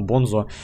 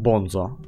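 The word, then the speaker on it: Bunzo: Да и по этому, по туториалу, который у нас был с игрой, вот там вот Банзо, ну Бонзо, сам диктор произносил его как Бонзо.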